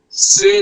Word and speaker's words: c'est: The pronunciation will be say. C apostrophe est. It will be pronounced Say.